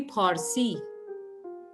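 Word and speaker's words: پارسی: Even the word Farsi it is actually Parsi in Persian, and that's why in English it's Persian, and the land was called Pars, Sarzamine Pars. And then since Arabs didn't have the pronunciation, so they changed it into Fars.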